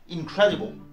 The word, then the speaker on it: incredible: Credible, lui, a un suffixe en ibo qui placera l'accent sur la syllabe qui le précède, conformément à la troisième règle de placement de l'accent dans le mot. Du coup, on retrouvera l'accent en deuxième syllabe dans incredible.